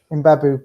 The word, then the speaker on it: Mbabu: Mbabu, Kevin Mbabu.